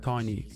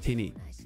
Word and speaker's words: Tinny: Some people call me on ROK Tiny, but it's just Tinny.